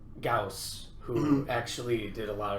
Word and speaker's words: Gauss: like oh man you got this goss rifle now that's a mispronunciation of you know gauss who actually did a